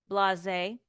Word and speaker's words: blasé: Blasé has a stress mark on it. Like a little stress. Blasé.